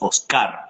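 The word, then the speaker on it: Óscar: Acá nosotros decimos Oscar, acento en la A.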